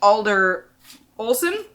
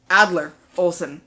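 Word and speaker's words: Adler-Olsen: author anywhere else uh Jesse yussi Alder Olsen Adler Olsen I've been pronouncing the name wrong for years too so sh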